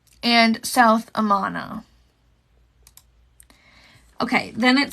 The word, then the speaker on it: Amana: had eight cars off so that's like a um amana's Amana is pronounced like Amanda without the D okay Amana I thought